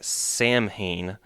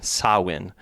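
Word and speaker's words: Samhain: ah w i n sawin yeah the h uh is a soft mutation for the letter before it.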